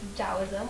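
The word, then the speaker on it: Taoism: dosm which looks like that but it's actually pronounced dosm with a d and dosm or to the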